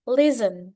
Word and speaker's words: listen: Oke next listen. Nah st is two letters but only one sound. T is silent. Listen T-nya enggak dibaca ya.